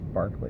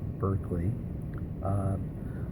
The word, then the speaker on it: Berkeley: and by the way Barclay is pronounced Barclay it's not berkeley why is it that